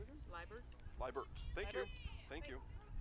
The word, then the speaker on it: Liebert: Liebert? Liebert. Thank you. Thank you. All right, lineup change just being told to us as Chloe Werner comes in to bat, and on deck will be Katie Liebert batting for Allie Paulson.